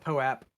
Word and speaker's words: POAP: been aware of um he calls it pope i'm gonna correct his pronunciation and call it poep because he pronounced my